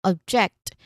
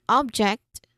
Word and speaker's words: object: So I'm referring here to the second version where the stressed syllable is the on the second syllable. Okay, that is on object. And the other one object. No, that's the noun version of the word meaning it's a thing, it's an item or something that you can touch. That's object. Okay, we stress on the first syllable here.